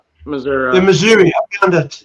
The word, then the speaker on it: Missouri: A big portion of the population pronounce it Missouri. Missouri.